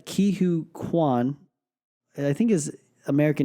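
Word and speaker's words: Ke Huy Quan: who we haven't seen since Indiana Jones, and his name is forgive me if I pronounce this wrong. I think it's Ki-Hu Kwan.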